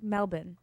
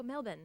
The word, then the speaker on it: Melbourne: our listeners it's pronounced melbour oh melbour like no r one one of our listeners said it's almost like you don't have enough time for all the extra vowels okay Melbourne melbin melbour melbour are you